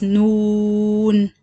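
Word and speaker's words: نون: with the letter noon how you pronounce noon or how you say the word noon it's noon so it's noon second the letter after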